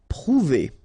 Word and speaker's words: prouver: Prouver, okay, O and U together, ou, prouver, prouver.